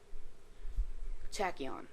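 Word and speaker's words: Tachyon: rare and which ones are not now then tachon that's how you pronounce that name the L axes and then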